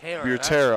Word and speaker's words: Butera: We think we have the correct pronunciation on number 14. We think it's Zach, what did I say? Butera. Butera. Right.